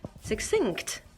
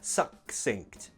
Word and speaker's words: succinct: yes so this word it has a double C but we don't pronounce it like a hard C like a good sound it's not succinct no imagine that is a double s succinct succinct and also that